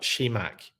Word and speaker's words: Shimak: Shimak is how I should be pronouncing it, and how I'm not pronouncing it every single time. Kind of put a spit at the end of it for some reason.